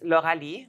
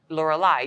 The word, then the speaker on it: Lauralie: okay no um so my name is French it's laurali that's how you say it in French laurali so it's it's spelled IE in English you guys say laureli you would read it that way if it was l e you would read it Laura so you you you